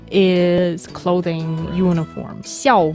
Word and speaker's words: 校: Oh, it's not small? No, it's 校. 小 is small. 校, the fourth tone, is school. I'm so tone deaf. It's hilarious. And 服 is clothing, uniform. 校服 is the school uniform.